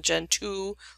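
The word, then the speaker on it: Gentoo: is is well known gen 2 like generation 2 but it's spelled out gen 2 and it goes on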